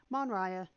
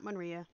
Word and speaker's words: Monraya: Pronunciation for the username is Monraya, not Monria. Which one sounds better, Monraya or Monria?